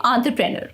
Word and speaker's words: entrepreneur: Nur an rur okay entrepreneur so when you put it all together it sounds like entrepreneur remember to stress the on syllable and the rest of the syllable should flow smoothly practice saying it a